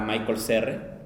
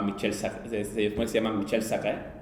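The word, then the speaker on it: Michel Serres: Yo la primera vez que leí el libro pensé que se pronunciaba que era Michael Serre, y luego llegué al seminario y se llama Michel Sarre, del contrato natural, ¿no?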